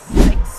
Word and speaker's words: CeX: এইটার দোকানের নাম হচ্ছে সেক্স স্টোর, ঠিক আছে?